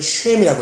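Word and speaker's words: שֵׁם: 이 셈은 원래 발음대로면 쉔이라고 해야 돼요. 쉔.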